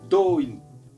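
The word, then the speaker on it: Do-in: Et comment on prononce Doin, Atsuko? う。ドイン。 Doin.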